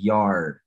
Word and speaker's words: yard: Y aquí lo ponemos como the yard. La y no se pronuncia y como nuestro español, sino es una i, como la i de iglesia, la i latina, yard.